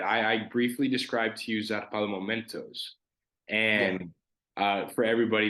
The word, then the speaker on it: zarpado: because like I said, I was a really nervous kid growing up, Yeah, and the Amazon by itself was a Zarpado.